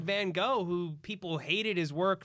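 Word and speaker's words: Van Gogh: he because of us we call him Vincent Van go but I feel like we're saying it wrong oh it's van gof I think so I've heard British people say that I haven't heard that's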